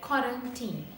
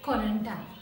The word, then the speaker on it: quarantine: Actually, the most number of people pronounce this word as quarantine, but it's completely wrong. Remember that we have to pronounce this word as quarantine, right? It's an Italian word, so try to pronounce this word like quarantine, right?